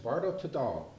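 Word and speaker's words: Bardo Thödol: It's pronounced Bardo Tadal, right?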